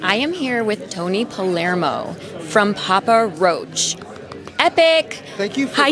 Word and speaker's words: Palermo: And I am here with Tony Palermo from Papa Roach. Epic! Thank you for Hi, pronouncing Tony. my last name correctly. Oh, my gosh. Yeah. Thank you. I get Palmero.